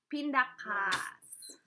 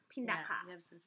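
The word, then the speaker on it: pindakaas: And it's a long, long vowel. Yeah. Pinda kaas. Pinda kaas.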